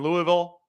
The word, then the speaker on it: Louisville: I will document my road trip from Nashville, stop in Louisville. Got to say it right. Louisville, stop there.